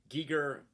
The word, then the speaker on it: Giger: that's that's why his his name would be pronounced like that because it's spelled g-e-g-i-e-g-e-r so that's that's that's ghee in the german but he his his